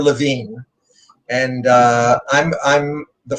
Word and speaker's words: Levine: my name is levine that's how we pronounce it you know there's some people pronounce it levi but we're levine and uh i'm i'm